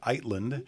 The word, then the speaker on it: Eitland: the way it's spelled I want to say itand and I'm trying to continue to say etland and you said really it is itand but that you've been calling yourself etland for since beginning of